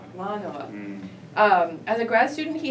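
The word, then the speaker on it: Mānoa: Manoa. Manoa.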